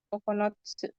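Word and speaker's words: 九つ: Cara baca lainnya kokono. Kokonotsu yuk. Kokonotsu itu buah.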